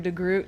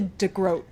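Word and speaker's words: De Groot: And Tobias is like, "Hello, Mr. Degrroot." And he's like, "Actually, it's what is it? Uh, Dote Degro." He's like, "It's actually Degro."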